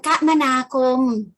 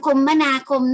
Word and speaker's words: คมนาคม: ทำ นี้ นะ คะ จะ อ่าน ได้ 2 แบบ ค่ะ คือ การ คมนาคม หรือ การ คมมนาคม นะ คะ อ่ะ มี